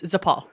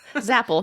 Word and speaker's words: Zapel: that reminds me so my last name zapel is Polish it is my I'm sorry it's zapal no zapel nobody ever gets it right